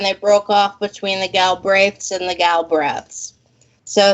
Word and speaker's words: Galbraith: know but you know over here in the states they pronounce my name gull breath which is even worse why would you pronounce it which is really truly it's galbraith it goes back to